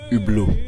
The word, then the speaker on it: Hublot: It's pronounced Hublot.